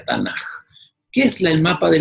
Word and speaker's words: Tanaj: Las tres palabras conforman ese acróstico que se pronuncia Tanaj.